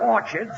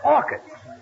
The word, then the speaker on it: orchids: some Orchards it's not Orchards it's orchids the CH is pronounced like K oh what movie did